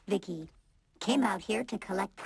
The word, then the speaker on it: V.I.C.I.: for you by the way yep i'm vici pronounced vicky came out here to collect samples for vivisecto